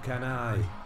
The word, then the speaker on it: Cannae: like an enormous battle near the town of kenai so i did pronounce it right i'm happy to say that